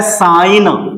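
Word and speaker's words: sign: बनावट और यहां पे होता है साइन यहां पे जो एस आई एन जी एन होता है तो इसमें जी हमारा साइलेंट होता है।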